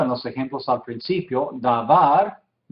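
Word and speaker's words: דבר: Davar, sílaba tónica al final. Davar, palabra o cosa, también tiene otros significados, unos cuantos, como a veces promesa, ¿sí?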